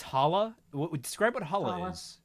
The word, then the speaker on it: challah: Oh, it's technically it's challah, but it's pronounced challah.